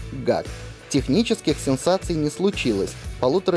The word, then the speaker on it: GAC: узнали что наш дистрибьютор официально называется как мод rus именно так аббревиатуру произносят и российские пиарщики а значит и нам ничто не мешает называть марку гад технических сенсации не случилось